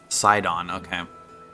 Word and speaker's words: Sidon: Sidon, okay. That makes sense. Everything should just be spelled out phonetically, ever, from all time.